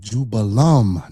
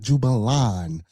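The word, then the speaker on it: Jubelum: It's Jubella, Jubello, and Jubalum, not Jubalan.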